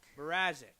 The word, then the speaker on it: Mrazek: Brad the goalie they got from Detroit you pronounce his name how do you Mrazek Mrazek thank you I got him he's the starting